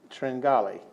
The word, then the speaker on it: Tringali: And then, I gotta say this right, Debbie Tringali. Spelled Tringle, but anyway, it's Tringali.